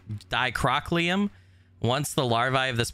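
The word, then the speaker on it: Dicrocoelium: several such parasites uh decorucolium that's not how you say it dicrow dicrochliam once the larvae of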